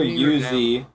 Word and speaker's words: Uzi: Uzi. That's how it's pronounced. Okay, I want to know where the I is in your pronunciation for this little thing that's in front of me. Uzi, it's Z. That's how you pronounce it.